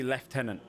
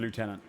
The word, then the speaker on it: lieutenant: I mean technically in England we see left tenant instead of lieutenant.